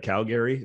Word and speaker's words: Calgary: be in Calgary, or as I've noticed people from Calgary, they actually say like Calgary, they say it like that.